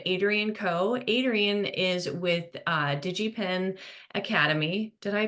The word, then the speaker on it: DigiPen: Adrian is with DigiPen Academy. Did I pronounce that correctly? Yeah, DigiPen.